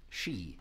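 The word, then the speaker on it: Sidhe: exactly and i mean how do you pronounce that even and maybe one of these evenings i will sing you a song from the band called the she is how you say it and they are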